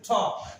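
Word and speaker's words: talk: এইটা হস পরে দেখেন আমি লিখছি টক এখানেও দেখেন আপনার টি স্যার রয়েছে টক এই দেখেন অথবা আপনি বলতে পারেন টক টক দেখেন লেখা হচ্ছে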